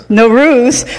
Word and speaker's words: Nowruz: we also celebrate Persian New Year's do I pronounce that right no Ruth Nowruz which translates to a new day that being